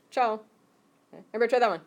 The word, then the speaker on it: ciao: Harder to spell than it is to say. How many know the Italian? Ciao. I do. Okay. It's the same. That's how it's pronounced. Ciao.